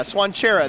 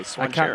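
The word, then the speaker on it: Cvancara: Yeah, Swanchera. That's how you pronounce that thing that is spelled C-V-A-N-C-A-R-A. Swanchera.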